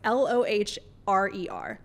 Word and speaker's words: Lohrer: Melissa Lohrer. I'm going to say her name so wrong. It's Loher.